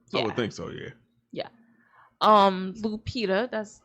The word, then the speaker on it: Lupita: Lupita, that's how you pronounce her name, Yeah. right? Lupita.